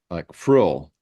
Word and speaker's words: Vril: And she said, in German, the V is pronounced like an F, like frill.